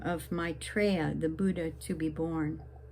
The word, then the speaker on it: Maitreya: And then we invoke the name of Maitreya, the Buddha to be born.